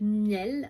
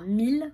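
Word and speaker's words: Miele: Donc j'avais un appel avec la marque Miel, enfin Mille, ça se prononce Mille, moi je dis Miel mais ça se prononce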